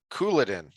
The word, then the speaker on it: Couladin: Couladin. Emphasis on coup.